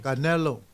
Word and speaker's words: Canelo: Again, Terrence Crawford, Canelo.